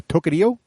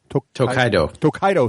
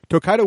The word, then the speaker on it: Tokaido: of this game uh tokerio tokaido thank you I knew I get it wrong uh tokaido which is a very